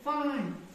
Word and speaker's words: fine: फिर साइलेंट ई में हमने प्लान, PLANE, प्लान। LINE, क्या बन गया? लाइन। हाँ, शाबाश। FINE क्या बन गया? फाइन।